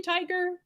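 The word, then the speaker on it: Tigar: job uh Judge John is it really tiger John tiger I mean that's a cool it's TI g a r is his name but if you pronounce it tiger that's pretty cool anyway well done uh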